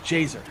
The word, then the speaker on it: Jazer: It is Jazer. Jazer. Like laser, but with a J. So. Okay, Jazer.